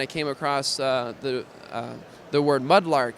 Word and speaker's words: MudLrk: And so I just dropped the A and kept the R, so it's still pronounced the same way phonetically, but looks a little bit more interesting and maybe easier to trademark.